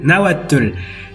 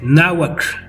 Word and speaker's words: náhuatl: Ya que mucha gente de hecho lo siguen pronunciando fatal, que es tl, náhuatl, y no, es náhuatl, síhuatl, cuac, conex.